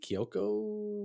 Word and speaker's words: Kiyoko: Naomi Scott, Haley Kiyoko was is how you pronounce it.